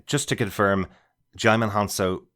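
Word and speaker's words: Djimon: h just to confirm jimon hanso pronounces his name jimon just like Simon the D is silent so both of us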